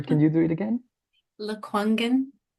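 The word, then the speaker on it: Lekwungen: lives on the traditional territories of the sorry Luen I don't know if I pronounced that well sorry can you do it again? Luangen.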